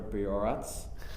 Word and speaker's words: Bihorac: Bihorac. Did I pronounce that correctly?